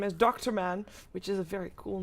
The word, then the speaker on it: Durman: We pronounce his name as Dr. Man, which is a very cool name, to be honest, so that's still open.